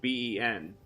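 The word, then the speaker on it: Beihnn: I'm like, B-E-N. And they're like, no, obviously it's B-E-I-H-N-N. Pronounced Ben.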